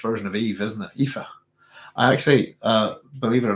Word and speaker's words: Aoife: So it's Aoife, I believe.